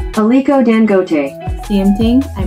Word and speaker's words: Aliko Dangote: And this billionaire's name is Laiko Dangote, and I'm sure I butchered this man's name. Let me look it up. Let me see if I can get the pronunciation right. Aliko Dangote.